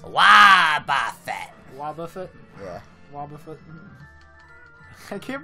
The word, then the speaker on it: Wobbuffet: Wait, how is it pronounced? Wobbuffet.